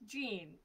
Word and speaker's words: Jean: jean it's actually pronounced gene but it's oh jane yeah yeah it's not the french translation it was okay carry on it's all right it's like the jeans it's like jeans um